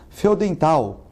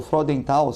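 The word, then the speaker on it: Freudenthal: E hoje nós temos aqui o Feodenthal, ou Fraudenthal, se for falar na pronúncia alemã correta, né?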